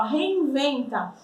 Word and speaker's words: reinventa: Então vamos pegar uma palavra aqui do texto, ó, reinventa. Como a gente pronuncia reinventa em espanhol? Ó, o V já tem som de B, tá?